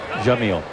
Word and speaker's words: Yamil: Jamil. Jamil. Even though it's spelled with a Y.